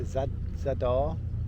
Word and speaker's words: Zadar: We are in Zadar, pronounced perfectly, and it's a nice place so far.